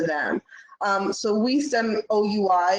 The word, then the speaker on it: oui: um so we send oui is a french word for we which is yes um which is how it's spelled but it also sounds like we um which really speaks